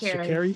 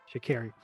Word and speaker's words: Sha'Carri: after the whole, and I think I said her name wrong at the beginning. I said Sha'Carri. It's Sha'Carri? Yes. Sha'Carri.